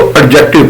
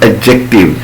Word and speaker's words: adjective: अच्छा, कुछ लोग इसको adjective पढ़ते हैं, that is wrong. जब D के बाद G आ जाता है तो वो मोस्टली D को साइलेंट कर देता है।